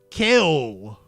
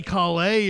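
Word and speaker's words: Cale: It was C-A-L-E. Kel. You wouldn't say Calais or something, would you? That's not how you would pronounce it. It would be Kel, right? Am I wrong on that? But also not kale as in, the garnish you get at the Pizza Hut salad bar.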